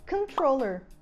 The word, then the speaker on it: controller: E a gente fala controller, controller. A sílaba tônica é tro, então a primeira sílaba vai vir com o som de vogal do schwa, controller.